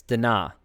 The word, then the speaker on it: Dinah: pronounce his name too it's dinah not dana so he's uh mongolian